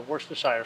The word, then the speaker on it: Worcestershire: it's going to be a couple dashes of Worcestershire sauce is that pronounced right yep you said that one right